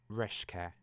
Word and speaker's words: Reszke: when I know it's a Polish name, I know now how to pronounce it. So it's Reszke.